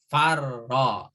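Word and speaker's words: فرّ: Atau dibalik, kalau ada tasdid sebenarnya huruf yang bertasdid adalah huruf 2. Jadi farro itu sebenarnya asalnya dari faroro. Itu. Tapi supaya tidak terulang ro-nya cukup satu tertulis tapi ditambahkan dengan tasdid, maka dibacanya farro.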